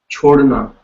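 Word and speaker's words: छोड़ना: And the way you will pronounce it is like you have a cho.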